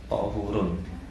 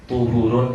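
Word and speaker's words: طَهُور: Pakai fathah, tahurun. Kalau kita membacanya pakai dhammah, tuhurun, itu beda makna, ya.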